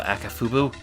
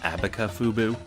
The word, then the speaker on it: Akafubu: Does someone want to kill Akafubu? As a kid, I always got Akafubu's name wrong. I always threw in a B in there somewhere, like Abakafubu. Like Abracadabra plus Kafubu.